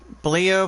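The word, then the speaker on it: Bleier: Bleer 15th save. Not Bieber, but Bleer. It's pronounced as IER with the BLE on top of it.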